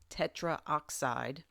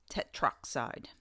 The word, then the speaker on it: tetroxide: Note that the last O or A of the prefix is dropped when the element name begins with O, such as oxygen. This avoids trying to awkwardly pronounce a word like tetraoxide, which becomes tetroxide.